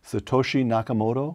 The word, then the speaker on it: Satoshi Nakamoto: In 2008, this anonymous person who calls himself, I'm not sure I can pronounce this, Brian, so correct me, Satoshi Nakamoto?